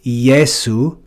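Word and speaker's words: Iesu: would call this J we see an example of this in our lord's name in Latin it's yesu yesu and you can see it's just the vowel e followed by the vowel e and pronounced ye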